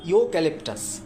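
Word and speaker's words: eucalyptus: ইউক্যালিপটাস আমি যদি ভাঙি, উচ্চারণ করি, প্রোনাউন্সিয়েশন করি, ইউক্যালিপটাসটা উচ্চারণ হয় ইও ক্যালিপটাস, ওয়াই ডবল ও।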